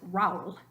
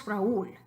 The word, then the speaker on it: Raúl: If there were no accent over the U, you'd pronounce it Raúl, which is hard to even say. Try that. Raúl. We know it's Raúl.